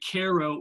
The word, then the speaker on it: Cairo: mind and said, no, I think it's Cairo, Illinois. But let's disabuse our audience quite quickly. We're going to say Cairo, or in some places they call it Cairo, Illinois. We're not mispronouncing how the locals pronounce the name of the town. It is actually Cairo, Illinois.